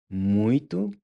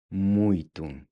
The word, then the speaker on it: muito: Eu gosto muito de viajar. Muito. When you pronounce the T, make sure the tip of your tongue is pressed against the backside of your front teeth.